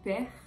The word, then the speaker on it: père: exemple dans mère ou père vous voyez la seconde syllabe que moi je ne prononce pas par exemple on aura